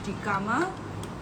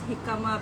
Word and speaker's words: jicama: don't know, because he kept pronouncing his jicama as jicama, and I told him it's jicama because it's Mexican, right?